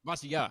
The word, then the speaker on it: Amavasya: Amavasya.